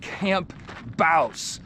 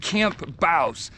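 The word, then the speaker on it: Camp Bouse: so let's see let's see if I can keep on track I have arrived at Camp Baus that's what the locals say that's how you pronounce it Camp Baus in Baus Arizona this is where General Patton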